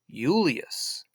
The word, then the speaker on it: Julius: But his real name, he wouldn't have said Julius because there was no J sound in Latin. So he would have pronounced it like with a U, Julius.